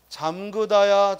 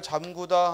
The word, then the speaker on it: 잠그다: 오므리다 해서는 안 되겠다 또 잠그다 잠그다 잠그다 자꾸 잠그다 잠구다 하면 안 되겠다 또 물에 담구다 담그다 담그다 담그다가 아니라 담그다 또 이을 치루다 치르다 치르다 그래서 이런 말들 우리가 의로 의로 발음해야 되는데 자꾸 원순 몸 우로 잘못 발음하고 표기하는 걸 조심하자이 말이에요 그래 잠그다 담그다 치르다 오므리다